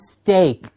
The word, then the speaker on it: steak: It's not steak, it is, the pronunciation is steak.